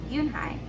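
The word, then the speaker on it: Unhei: turned to joey she nodded slowly yes it's pronounced yoon hai and it means grace mr canada yoon high said joe joey said slowly and this time perfectly it made yoon hai smile i'll have it ready for you tomorrow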